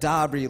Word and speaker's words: Dabrye: So then I imagine, you know what, when he rapped on Game Over and said Dabrye, like, and rhymed it with Hobby.